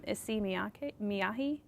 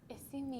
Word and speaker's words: Issey Miyake: Issey, I may pronounce this incorrectly, but Issey Miyake? Issey Miyake.